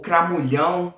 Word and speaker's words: Cramulhão: Que são, em primeiro lugar, para quem não sabe, o Cramunhão ou Cramulhão, né? As duas pronúncias estão corretas.